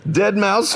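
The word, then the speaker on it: deadmau5: I know that too dead mouse 5 ladies and gentlemen I I pronounced it the way it's written and I but I know it's dead mouse dead mous five yeah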